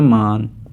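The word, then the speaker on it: 만: 00 लिखा हुआ है इसे हम कहते हैं मान यह आप लोगों के सामने जो कौन से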